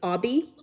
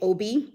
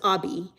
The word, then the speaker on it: Oby: you pronounce my name, first name is Obi. A lot of people want to say Obi, and I'm like, no. There's O and the B is object, obscure, observe, all the things. So it's Obi, and then last name.